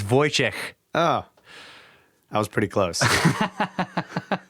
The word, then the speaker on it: Wojciech: It's Wojciech.